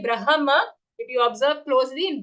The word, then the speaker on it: Brahma: Be careful when it comes to the pronunciation of Brahma. It is not Brahma, okay? Not B-R-A-M-H-A. It is B-R-A-H-M-A. So the half ha comes first, brah, and then full ma, Brahma. Not even Brahma.